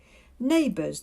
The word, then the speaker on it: neighbors: the word kind also neighbors the gh is silent so just n b